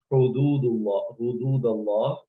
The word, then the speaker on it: حدود الله: The other common mistake that people make, they, instead of pronouncing this hududullah, they pronounce this ha with fatha. That is incorrect. So please keep in mind, this is hudud, there is dhamma on ha.